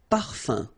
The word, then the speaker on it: parfum: So it's nasal and it's un. So it really goes in your nose. You don't pronounce the M at all. Un. Okay? So par, fin, parfum.